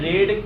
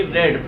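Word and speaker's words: read: अब main verb का third form हम जानते हैं, रीड सेम लिखने लगी रेड, प्रोनाउंसिएशन के रूप में यूज होता है, ये हो जाएगा रेड।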